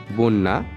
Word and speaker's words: বন্যা: অন্তে বসলে তার পূর্ববর্তী ব্যঞ্জন দ্বৈত উচ্চারিত হয়, যেমন বন্যা, বন্যা।